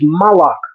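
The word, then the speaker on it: מַלְאָךְ: not the word for King in Hebrew is Melech Melech the word for Angel is malach the only difference is The Vowel Shift but in La Shimon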